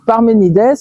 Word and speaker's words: Parménide: Parce que Parménides que l'on prononce en grec, Parménides parce que c'est un nom grec était avait comme philosophie la séparation entre l'opinion et la démonstration.